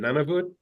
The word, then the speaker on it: Nunavut: Nunavut.